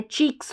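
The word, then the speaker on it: cheeks: CH का उच्चारण जैसे मैंने बताया च होता है, च ई क, चीक है, और ये प्लूरल है तो S लगा है, चीक्स हो गया, तो चीक्स पढ़ेंगे इसको, ठीक है।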